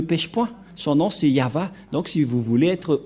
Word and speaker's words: Yahvah: de de yava et la prononciation de y h selon les ébreeu c'est yava et personne ne peut